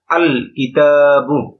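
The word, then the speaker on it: الكتاب: আল কিতাবু। এখানে লামটা উচ্চারিত হচ্ছে। লামটা এখানে উচ্চারিত হচ্ছে।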